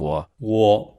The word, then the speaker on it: 我: The pronunciation of 我 closely resembles the first syllable of woman.